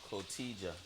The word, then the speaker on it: Cotija: Cojita. No, Cotija. No, I think the T is silent.